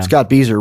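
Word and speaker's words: Scott Bieser: Scott Beezer rhymes with geezer.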